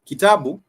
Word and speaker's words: kitabu: So it has a alternating vowel sounds in the sense that it's ki, ta, bu, and all these syllables vowel sound. For example, ki, it has the e, the ta has the a, and then the bu,